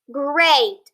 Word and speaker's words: great: gr e and a the e is silent so the a is on gr eight great i hope you have